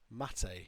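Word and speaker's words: Máté: rhymes with pate. Mate.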